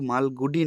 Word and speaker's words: মালগুড়ি: এটা একটা দক্ষিণ ভারতের কাল্পনিক শহর মালগুড়ি, যার নাম, এই প্রোনাউন্সড, এই উচ্চারণটা কিন্তু ঠিক করতে হবে, হ্যাঁ, এটা কিন্তু মালগুডি নয়, মালগুড়ি।